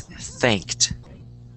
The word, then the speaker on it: thanked: And, um, you know, sometimes people forget to pronounce the ed cuz they're speaking really fast. Uh, so it's thanked.